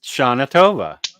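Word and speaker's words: שנה טובה: means happy New Year it's pronounced Sha atova okay but see you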